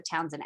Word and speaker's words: Townshend: i think it's pronounced the townsend act it's named after the